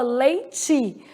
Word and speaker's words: leite: Aqui a gente fala leitei. Aí no sul do país as pessoas falam leit. Então a forma como se pronuncia. Então, os regionalismos eles podem